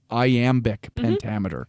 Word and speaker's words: iambic pentameter: So Shakespeare wrote in a specific pentameter, and it was called, I think I'm going to pronounce this incorrectly, but it's iambic pentameter. You pronounced it so right. That's correct.